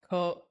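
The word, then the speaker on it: Coquelicot: it here, and every time I mess it up, and it's Coquilico. Anyways, the question is hard. Naming things is hard. It's a French word for wild poppy, and you know, most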